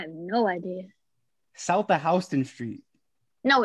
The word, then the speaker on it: Houston Street: It looks like Houston, but it's pronounced Houston. That's how the train says it.